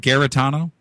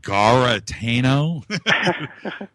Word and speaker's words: Garetano: And, I was going to ask you, what is the correct way to say your name? Is it Garetano? Yep. That's right. Garetano. What? Okay. All right. I was going to ask you that all week long. I meant to ask you. And I thought, I don't want to. Is it Garetano? Nope, you said it right.